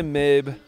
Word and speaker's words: Mabe: Okay, so last time I explored Mabe Village, now, and I don't know if it's pronounced Mabe or Maybe. I'm going to say Mabe because there's no Y, so Mabe Village.